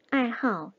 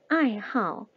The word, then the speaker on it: 爱好: 爱好, 爱好. 자, 여기에서 爱好 이렇게 삼성으로 읽는다 라고 하면 틀린 발음입니다.